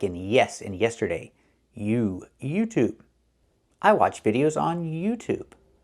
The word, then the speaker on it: YouTube: ShoTube. ShoTube. It's not pronounced. It's pronounced YouTube. Make the E sound like in yes in yesterday. You YouTube.